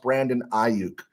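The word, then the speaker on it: Brandon Aiyuk: let's see uh Michael NR pastor Joe it's pronounced Brandon auk what did I say auk or I I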